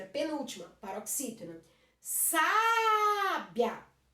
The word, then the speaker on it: sábia: Sábia, sábia, o biá fica junto, a última sílaba. Não é a última que é mais forte, é a penúltima, paroxítona.